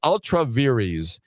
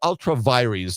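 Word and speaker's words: ultra vires: Ultraveries or ultraviries depending upon how you want to pronounce the Latin.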